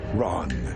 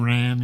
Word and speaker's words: Ran: Well, I guess so it's pronounced Ron. I got it wrong. I was saying Ran in my very Aussy accents, but that was a really good movie.